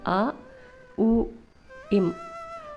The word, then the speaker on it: ஓம்: உச்சரிக்கணும் அப்படிங்கிறத பற்றி பார்ப்போம் இந்த ஓம் வார்த்தையில் 3 அக்ஷரங்கள் இருக்குது அதாவது அ உ இம் இந்த 3 அக்ஷரத்தையும் நாம் சேர்ந்து உச்சரிக்கணும் இந்த அ உ இம்